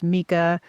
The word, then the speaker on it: Micah: Yeah, and let me just say this guy's name is pronounced Mika, but I watched it with subtitles on and it's spelled Micah, so I will probably say Micah several times.